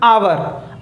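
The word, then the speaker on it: hour: क्या पढ़ रहे हैं आवर अब यहां पर ऐड साइलेंट है टावर ओम कि टेस्ट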